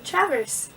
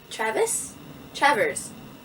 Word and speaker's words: Travers: Travers. Travers. I said it right the first time.